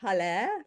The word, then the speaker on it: Halle: Yes, it's Halle pronounced like Hallelujah.